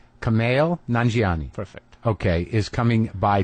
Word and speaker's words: Nanjiani: Nanjiani. Kumail Nanjiani.